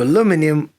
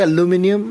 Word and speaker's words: aluminium: the negative six so aluminium aluminum oh did i say aluminum that's how the british say it aluminum has 25 times